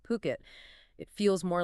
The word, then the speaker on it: Phuket: It's puket spelled p h u k e t pronounced puket. Definitely not fuket.